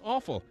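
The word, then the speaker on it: offal: organs as food generically are referred to as awful by the way spelled offa L but pronounced awful isn't language wonderful I digress look I know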